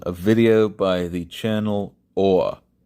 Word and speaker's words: Awe: video by the channel Awe. Now, that's spelled AWE, as in, I had felt a sense of awe overlooking the Tweed caldera or something of that, to that effect.